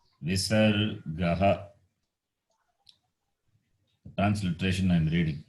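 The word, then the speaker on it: visargaḥ: It is pronounced as Visargaha.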